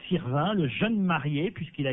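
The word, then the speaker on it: Sirven: fun si vous préférez il parait qu'il faut prononcer Sirvin le jeune marié puisquil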